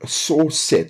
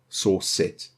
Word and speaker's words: srcset: And then we want to put dot, and then source set. So it's SRCSET. So it's spelled like that, source set.